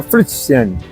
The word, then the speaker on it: Frutigen: escribe frutigen se pronuncia fruten y de ahí como